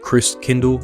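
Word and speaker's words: Christkindl: from the Christ child the German way to pronounce it is Chris Kindle and over time this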